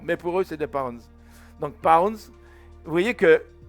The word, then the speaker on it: lbs: Alors ça s'écrit LBS, mais en fait c'est des pounds.